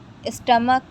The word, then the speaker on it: stomach: Next rule is, if the word ends with ch, but pronunciation of ch is ka, add s to make plural.